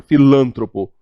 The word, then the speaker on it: filantropo: que coisa feia a filantropo a palavra paroxítona erradamente pronunciada com proparoxítona filantropo a não é Pilão